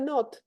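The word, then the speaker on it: Knott: cuando se hacía el método de not not se escribe kn n o TT que lo van a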